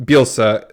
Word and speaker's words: Bielsa: you know as far as I know about bielsa that's how you say his name Craig isabilsa